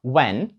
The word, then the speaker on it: When: фотографія oto w H Ці дві літери вимовляються просто як літера w w наприклад слова When ніякої H там не звучить What Where ні тобто у всіх словах де ви бачите w та h h просто не вимовляйте уявляйте що її там немає і там просто стоїть одна літера w так друзі а зараз